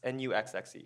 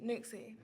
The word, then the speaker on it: NUXXE: So the first one is, what is, how do you pronounce it? Is it NUXXE? N-U-X-X-E? NUXXE.